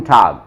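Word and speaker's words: Tag: गे यूज होता है, और ये लास्ट में आए तो गे ही बोलना है, लेकिन साउंड बोलते टाइम ऐसे लगता है कै निकल रहा हो, गूटन टाग। आपको सुनने में शायद हो सकता है कै जैसा लगे, लेकिन मैं बोल गे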